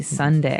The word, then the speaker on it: sundae: So, as you can see, the word is uh pronounced exactly like the day Sunday. Uh but it has a different spelling in the end. S u n d a e. Sunday, right?